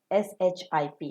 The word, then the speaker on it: ship: the dash bleeds loudly s h i p ship s h double EP sheet and in this example the Sheep plays loudly maintain the pronunciation between ship and sheep ship you've got a